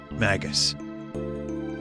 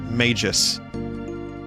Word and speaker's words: Magus: omagus our hero magus and no i don't say it mages it just does not i can't in my head it was always magus since i was a kid rhymes with maggots it's it's magus i can't do mages it's so weird mages plus two